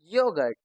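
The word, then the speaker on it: yoghurt: इसको एक तरीका यह भी है याद करने का या फिर आप इसको ऐसे भी समझ सकते हैं कि इन खास शब्दों में एच साइलेंट है।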